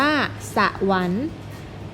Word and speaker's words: สวรรค์: จะ อ่าน ว่า ชะกัน สอ เสือ วอ แหวน รอ หัน อ่าน ว่า สวรรค์ ตั้ง คอ ควาย รอ